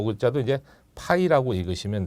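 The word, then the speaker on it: φ: 요 글자도 이제 파이라고 읽으시면 돼.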